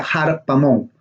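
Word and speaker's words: ἁρπαγμόν: Dice lo que ellos traducen como algo que arrebatar, viene de la palabra, es un sustantivo en griego que se pronuncia harpamón.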